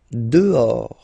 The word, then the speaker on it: dehors: Dehors. Okay, so remember final S not pronounced, and then this H in French doesn't exist phonetically, so you don't pronounce it. Dehors.